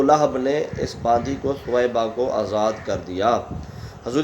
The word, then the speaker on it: ثویبہ: کا عام رواج ہے۔ تیسرا ہے ثویبہ، ثویبہ، سا کے اوپر پیش، واو کے اوپر زبر، یا کے اوپر جزم، آگے با کے اوپر زبر آخر میں ہا۔ اور یہ تلفظ جو